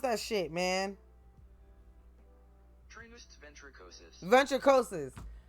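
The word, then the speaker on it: Ventricosus: I am Ventricuous. Damn. No. How you pronounce that shit, man?" Ventricosis.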